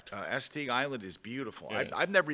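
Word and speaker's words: Assateague: She says Asetig Island. I'm I don't know if I'm pronouncing that right. It is. She That's correct. Uh Estig Island is beautiful.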